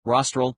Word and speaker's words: rostral: concepts being more frontal rostral which rhymes with nostril and the most specific concepts being least frontal codle.